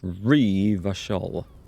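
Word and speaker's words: Revachol: with kunos out there Reva shawl is pronounced Reva shawl did we ever suggesting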